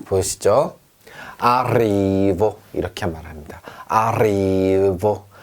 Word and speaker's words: arrivo: 아리보, 이렇게 말합니다. 아리보. 만약에 에레가 하나였다면 아리보였겠죠. 그런데 에레가 두개 있으니까 이렇게 떨었어요. arrivo 이렇게 합니다.